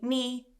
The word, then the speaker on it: knee: So for example, knock on the door, my knee, I don't say knee and knock and knife. I say knee, knock, knife.